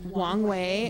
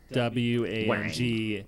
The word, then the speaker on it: Wang Wei: Wong Wei is W-A-N-G. Like Wang. W-E-I.